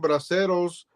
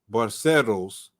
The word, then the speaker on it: braceros: The Bracero program had brought more than 4 million braceros to work in the U.S. agricultural and railroads. So 4 million braceros. How you say it? How you say it? I gotta roll my tongue.